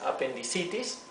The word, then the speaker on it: appendicitis: f sería iction bien appendicitis es appendicitis nuevamente aquí aquí pronunciamos la i larga stis aquí decimos blindness